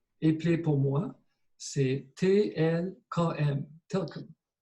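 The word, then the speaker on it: TLKM: Telkom. Our language seldom uses vowels unless they are borrowed.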